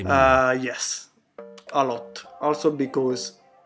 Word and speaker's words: Miele: Si scrive Miele, si legge Miele.